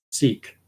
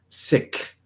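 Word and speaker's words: Sikh: truck drivers and and a lot of truckers are seek or sick the way that uh members of that Faith they pronounce their faith the sick Faith sick uh whereas English Canadians we tend to say Seek minor point so it's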